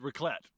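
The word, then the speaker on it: raclette: And, uh, we're going to do a traditional Swiss camping food called rocklet. Rocklet. Racklett. Rocklet. Ralet. Ralet. Ralet. Okay. It's pronounced rlet.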